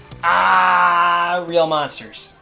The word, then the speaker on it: Aaahh!!! Real Monsters: from a show called Aaahh! Real Monsters. We have to say it like that? You do, because it's spelled AAAHH, 3 exclamation points.